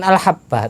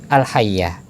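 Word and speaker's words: الحبة: Sebagian orang yang membacanya bukan al-habbah tapi al-hayyah.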